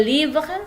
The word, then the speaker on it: livres: Mes livres. Nah, dibacanya seperti itu. Mes livres, tes fleurs, enggak pakai fleurs, enggak ya.